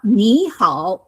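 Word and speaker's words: 你好: Now nihow in the book is always marked third tone third tone.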